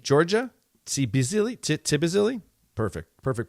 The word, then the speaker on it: Tbilisi: That would be Bisili, Georgia? Tbilisi? Perfect. Perfect pronunciation.